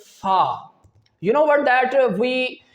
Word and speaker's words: ف: Fa. Fa. But sometimes we pronounce it like fa fa. This is the wrong pronunciation and wrong articulation point.